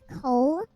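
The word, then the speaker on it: kohl: start using uh black coal which is it's not um it's spelled k o h l so it's essentially a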